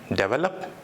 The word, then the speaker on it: develop: the next word is developed it's developed de ve l o P develop you have to put stress on D so it's developed the meaning of that